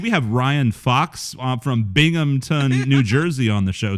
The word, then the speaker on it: Binghamton: Like in New York, was Stevie Ray Vaughan like this huge fucking thing in Binghamton? Binghamton, yeah. I grew up. Yeah, dude. I can't just let you pronounce it like that.